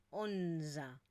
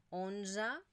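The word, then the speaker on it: onze: que por lo tanto no la pronunciamos como una e sino que es esta mezcla entre una e y una a onza doza 1za cza 15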